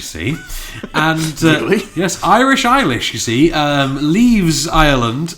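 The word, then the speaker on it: Eilis: the story of ish say say my name again ishish e i l i s iish iish iish is Irish you see and yes Irish eish you see uh leaves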